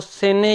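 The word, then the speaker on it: Seine: Brussels Belgium का जो capital है वो सेने या जेने उसे कहते हैं। रिवर को दोनों नाम लिए जाते हैं, दोनों प्रोनाउंस होते हैं, तो ये सेने या जेने के किनारे है।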